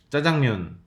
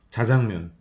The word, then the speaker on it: 짜장면: 짜장면, 자장면, 짜장면과 자장면 모두 맞는 발음입니다. 맞는 맞춤법이고요. 우리나라에서 유일하게 된소리를 맞는 맞춤법으로 인정해주는 단어가 바로 짜장면이에요.